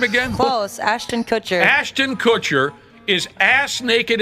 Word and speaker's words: Ashton Kutcher: Acton Kutcher. How the hell do you say his name again? Close. Ashton Kutcher.